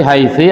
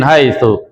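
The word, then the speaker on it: حيث: juga misalkan min tetap bacanya min haitu bukan min haitsa atau bukan min haitu min haiti salah itu ya sehingga ketika kita baca min madrasatin makra Jamatan min madrasatin. Min madrasatin. Min haitsu.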